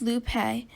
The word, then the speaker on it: Lupe: lupine is light blue her name is pronounced lou pay she's always cool and